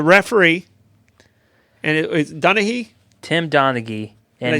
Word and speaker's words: Tim Donaghy: Tim Donaghy.